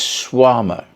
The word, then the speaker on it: Shawarma: I keep thinking of Bananarama, Schwarmarama, and it's Schwarma.